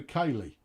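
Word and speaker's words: Keighley: pronounce the town keithley i pronounce it keithley uh because that's how people pronounce it it should be kaylee i know i don't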